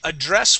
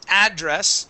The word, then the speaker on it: address: address address okay now address would be the verb address is the noun oh okay got you